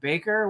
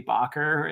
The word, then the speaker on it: Bakker: By the way, there's 2 K's in his name, but he pronounces it Baker for some reason. Somebody needs to tell him it should be Bakker. It looks like a Dutch name to me, but anyway, he says Baker, so I say Baker.